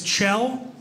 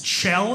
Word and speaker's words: Kjell: My name is Kjell. It's Kjell. It's Norwegian. Spelled K-J-E-L-L.